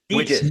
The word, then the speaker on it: Sitges: Sitges. Oh, There's a T.